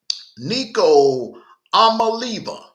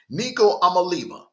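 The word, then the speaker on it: Nico Iamaleava: They are led by Nico Amaliva. I hate to mispronounce people's names, so I'm gonna be honest with you. I had to really practice on this kid's name, Nico Amaliva. Nico Amaliva currently has a 1,219 yards passing, 7 TDs,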